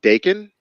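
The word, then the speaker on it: Daken: x23 or even docket Dakin help me out here rapunzo yeah it's not Doc and that's the metal band digging okay yeah rhymes with bacon even a name sucks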